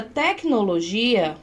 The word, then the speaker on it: tecnologia: Mas na palavra tecnologia, olha só, tecnol, que que acontece? A sílaba tônica é o G, tecnologia e não tec, tá certo?